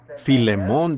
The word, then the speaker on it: Filemón: me lo sé y a veces no puedo pronunciarlos correctamente por la falta de Educación Así que Filemón dijo alguien allá atrás lo cual creo que es la pronunciación correcta Ahora el primer versículo